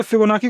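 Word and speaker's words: Fibonacci: फिबोनाची series, कुछ फिबोनाची बोलते हैं, फिबोनाची इज the actual pronunciation, but फिबोनाची बोलने की मुझे आदत है।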